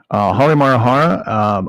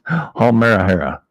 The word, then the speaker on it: Halmahera: It's Halmarahara, right? I just add 2 more consonants because it's easier to say. Geez. Get over it. Look. Halmahera. That's 1, 2, 3, 4 consonants. I say Halimarahara. I got 6 consonants, or 6 syllables, I should say.